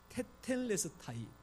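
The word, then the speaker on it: τετέλεσται: 테텔레스타이. 이 발음이 조금은 어렵지요. 테텔레스타이. 퇴 아니고 태.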